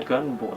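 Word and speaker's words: 願望: Kanji yang ini bacanya ganbo sebenarnya. Ganbo. Bukan kitai. Kalau kitai itu kanjinya gini.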